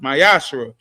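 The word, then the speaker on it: מעשר: Means 10th in Hebrew, and it's pronounced Mayashra.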